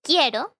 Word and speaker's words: quiero: they when this happens the u is not pronounced the u has no